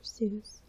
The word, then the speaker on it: Seuss: Dr. Seuss pronounced his name so that it would rhyme with rejoice.